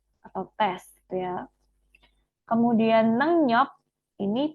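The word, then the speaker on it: 능력: tes gitu ya kemudian nengyok ini bacanya nenyok Ya teman-teman ya karena ini ada Eng eh Eng ketemu maka rnya dibaca n sehingga Ini nengyok ya Bukan nengriok tapi nengyok ini artinya adalah kemampuan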